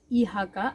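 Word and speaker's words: IHK: uh once you approach ihaka i hk actually e is called i is called e in german so i tend to pronounce that so i hk fosa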